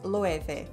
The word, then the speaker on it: Loewe: name of the brand loeve is a spanish brand with a german name so pronunciation can be difficult the correct way is loeve with heart ease and a v most reports on the